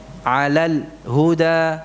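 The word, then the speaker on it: عَلَى الْهُدَى: Ini tadi mungkin saat pertama sampean bacanya gini, 'alal huda, 'alal. Padahal di sini lamnya tidak diucapkan demikian. 'Alal huda. Ya, bersuara lamnya.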